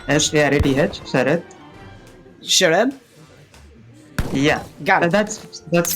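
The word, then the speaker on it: Sarath: How do you pronounce it? Sharad. S-A-R-A-T-H. Sharad.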